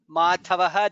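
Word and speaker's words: माधवः: In the second line lokabandhuhu dha is mahaprana, lokanathaha dha is mahaprana, madhavaha dha is mahaprana, bhaktavatsalaha bha is mahaprana.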